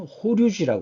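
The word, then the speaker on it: 法隆寺: 일본으로 그대로 넘어갑니다 그래서 일본의 법융사 일본식 발음으로는 호류지 하죠 호류지 법륜사 5층 목탑과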